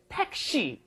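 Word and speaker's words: 택시: taxi is that okay taxi another word that can convert very easily in the Korean okay make a sentence tax okay but your pronunciation is all wrong it's not taxi it's Tei teii Tas very good yeah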